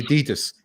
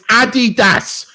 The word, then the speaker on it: Adidas: The one that really bugs me, the most is when they say Adidas. It's Adidas. That's how the Germans pronounce it.